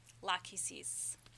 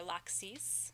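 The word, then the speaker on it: Lachesis: is luck he sees lack he sees or lack sees depending on how you pronounce it she is the alatar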